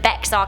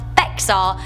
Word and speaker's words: Bexar: We've got some insight from Michelle Solomonson, who said, "Hey Rebecca, your pronunciation of Bexar County is not Bexar, it's actually pronounced Bear County.